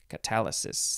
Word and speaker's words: catalysis: It is catalysis. That's not how you say it. Catalysis.